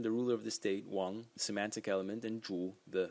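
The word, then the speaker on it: 王: out on this uh big character which is pronounced Wang and it's it's it's a king it's basically the the ruler of the state so the main person the ruler of the state Wong semantic element and Jew The Fanatic element but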